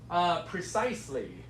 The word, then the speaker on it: precisely: It looks like preciously. Yeah, that's okay. That's right. It looks kind of similar to that.